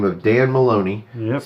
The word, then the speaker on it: Maloney: the name of Dan Maloney yes spelled like baloney OMA or sounds like baloney yeah that spelled by